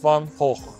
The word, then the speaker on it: Van Gogh: Şüphesiz ki Hollanda'nın en ünlü sanatçısı Vincent van Gogh. Evet, böyle okunuyor ismi.